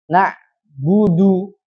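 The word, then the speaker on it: نعبد: dua harakat dah ya maka dia harus dipisah pengucapannya supaya penyempurnaan terhadap harakat ya kan naudu jadi perhatikan bibirnya jadi tidak dijadikan satu ia naudu Budu Bu yang pertama sempurnakan dulu Bu Bu itu sempurna kemudian du baru manyun lagi Budu Jadi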